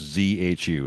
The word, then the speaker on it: Zhu: I I believe it's pronounced zu. It's zhu.